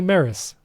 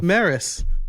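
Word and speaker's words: Meross: you pronounce this and it's actually Maris so Maris yeah good to know so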